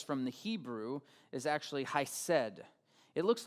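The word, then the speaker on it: חסד: And so the word that we translate into grace from the Hebrew is actually hesed. It looks like he said or hesed, something like that, but I'm told it's pronounced hesed, and it represents loyalty, faithfulness, goodness, godly action, mercy, and compassion.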